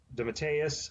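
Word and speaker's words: DeMatteis: and plotting Jam uh the Mateus I believe is how you say it was actually did the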